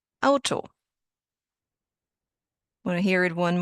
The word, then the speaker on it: Auto: Well, the letter combination AU in German sounds like Au in cow.